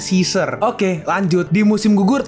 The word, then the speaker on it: Caesar: engak enak banget dibacanya tapi nih jadi tulisannya C A E Sar Caisar tapi kalau Inggris sebutannya caizer Oke lanjut di musim